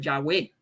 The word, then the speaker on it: Yahweh: isaías 12 2 que tiene un sonido como ao largo debajo de la ior se pronuncia como ya eso es una de las razones por las que los eruditos hebreo favorecen la pronunciación del yagüe la segunda razón es